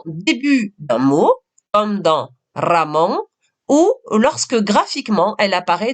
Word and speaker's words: Ramón: Ramón. Ici, j'ai essayé de couper en 2 syllabes le mot pour que cela soit plus facile pour toi. Prononce bien le R de manière double. Ramón.